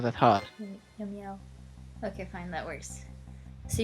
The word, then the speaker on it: Yomiel: Yomiya. Yomiel. That is his true name. Wow. I'm probably never going to be able to properly pronounce that. Yomiya, it's not that hard. Yomiel.